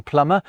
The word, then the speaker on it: plumber: They would never to be pronounced B in plumber, a mute C in indict, a ludicrous L in salmon, and a stupidly silent S in isle.